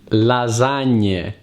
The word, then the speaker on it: lasagne: Lasagne, lasagne, salame, linguine. Always remember to pronounce the E at the end of the word if you want to sound like an Italian.